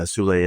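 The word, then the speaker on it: Soule: Do you know how you spell that last name? Yeah, Sule, S-O-U-L-E.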